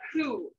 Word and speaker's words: coup: do in battle was something called a poo and who is spelled as a french word c-o-u-p what a coup is